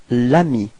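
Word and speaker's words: l'ami: with a voil so it's Ami and then you get Lami repeat Lami okay so plal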